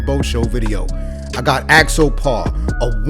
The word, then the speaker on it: Axopar: How do we actually pronounce the name of this boat? This company is called Axopar.